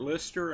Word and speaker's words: Lyster: hello welcome to the class i'm dr lister and i'm going to be your professor for